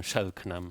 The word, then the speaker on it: Selknam: Hace 30 años me topé con la historia de estos ONAS o Selknam, como se llaman ellos. Selknam. ¿Cómo que es? fueron Selknam. Selknam. Algunos pronuncian Shelknam Selknam. también, que fueron una familia